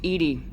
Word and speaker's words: EDI: Why are you named Edy? EDI is the phonetic pronunciation of EDI.